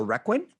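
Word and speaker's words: Requin: And you also starred in uh the Reququin. Is that how you pronounce it?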